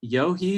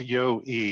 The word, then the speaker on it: Yohi: Is it Yohi? Is that, I should have asked you beforehand. Is that how you pronounce it? You're close, Dan. It's Yo-E. You just kind of forget the H is there.